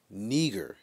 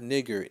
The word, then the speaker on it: neger: they would say that we were neger, not nigger, neger. But the southern slave owners couldn't pronounce it the way they did, so they just start calling us nigger.